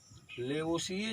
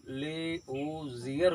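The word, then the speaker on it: Lavoisier: लेवोशिए जो है, इसको अंग्रेजी में इसका नाम लेवोजियर पढ़ा जाता है, लेवोजियर। तो इसके दोनों नाम पढ़े जाते हैं, लेवोशिए हिंदी में पढ़ा जाता है और लेवोजियर इंग्लिश में। प्रोनाउंसिएशन करते समय लेवोजियर आएगा। तो कुल मिला करके इस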